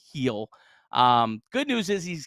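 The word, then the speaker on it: Gil: Luis uh Luis heel it's spelled g but it's pronounced heel um good news is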